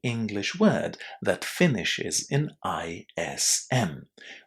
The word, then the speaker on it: ism: Ism. Ism. This is a universal rule for the pronunciation of any English word that finishes in ISM. We pronounce all of these endings as those 2 syllables.